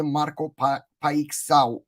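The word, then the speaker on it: Marco Paixão: puana direkt Etki yapmış Marko Portekiz'de Marco paxy şeklinde okunuyor Marco pay Sao ve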